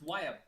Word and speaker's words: Wyab: Uyab, is that how you pronounce his name? YM. Yeah, it's Wyab. Wyab. Yeah, I got it from it's actually a Mayan term.